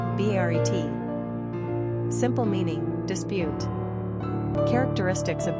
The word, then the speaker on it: Barrett: Pronunciation, Baret.